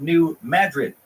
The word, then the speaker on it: New Madrid: mediocre at best and we pronounce it New Madrid because the Spanish pronunciation is too fancy for our tiny little